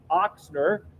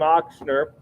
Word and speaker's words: Ochsner: The name Ochsner, and in German it's spelled with or pronounced with a big ox.